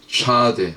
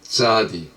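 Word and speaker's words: צ: 페 혹은 페이라고 읽습니다. 이건 입이고 또 말하다, 또 먹다. 차데 혹은 짜디, 요거는 낚싯바늘이죠.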